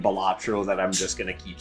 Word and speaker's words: Balatro: about to say, but isn't it pronounced Balatro? Technically, no, it's actually a Latin word that means jester or fool, and it is supposed to be pronounced Balatro.